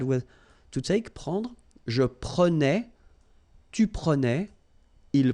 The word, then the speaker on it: prenais: So same thing here, final S not pronounced. Je prenais, tu prenais, il prenait, final T not pronounced.